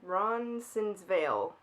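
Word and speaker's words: Roncesvalles: Ron's Ron I'm not from Toronto guys Ron Ron sinvil there we go it's spelled funny so it's hard to pronounce it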